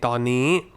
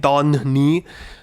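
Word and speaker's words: ตอนนี้: น น ี ้ you don't need to land on the first N, ต อ น and then น ี ้ ต อ น น ี ้ obviously just use the one N, ต อ น น ี ้.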